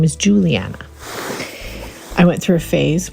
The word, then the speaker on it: Juliana: trying to get back to using my name Juliana Juliana so on the regular people oh Juliana how do you spell that j u l i a n a